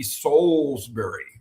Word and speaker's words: Salisbury: "Oh, it's it's Slesbury." And I'll go, no, if you were in London, it would be Soulsbury, right?